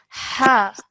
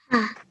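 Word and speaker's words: ح: Okay, now with this, I want you to really make the sound from the middle of your throat. Ha. Ha.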